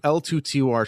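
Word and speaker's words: L2TOR: it's a European project l2 to R should be pronounced l2 tor okay so l2 Tory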